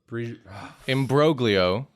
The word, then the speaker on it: imbroglio: were uh Masterpiece OS imbroglio why do I want to do soft G with that why is mind thinking Italian I know but I I keep going soft G Masterpiece in brugo Masterpiece